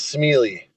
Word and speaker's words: Smeallie: And your last name, I always want to call it pronounce it Smiley, but I know that's not what it is. So, can you say it the right way? It is Smiley.